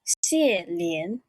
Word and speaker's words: Xie Lian: It's supposed to be Xie Lian.